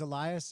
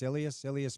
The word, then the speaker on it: Ilias: about this deal with, I thought it was Elias. Apparently it's Ilias Manuel. I guess that's how you say it.